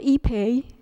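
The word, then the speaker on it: ipe: high density wood um it's called EP it's spelled I PE mhm and it is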